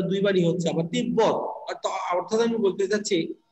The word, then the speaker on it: তিব্বত: যদি ব ফলা উচ্চারণ হয় তাহলে ব এর উচ্চারণটাই দুইবার হবে যেমন তিব্বত কি বললাম তিব্বত তিব্বত তাহলে দেখো তয় শিখে